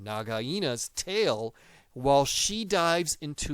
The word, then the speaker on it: Nagaina: But it is Rikki biting onto Nagaina's, that is how you say her name, Nagaina's tail while she dives into the snake hole and he gets dragged behind her.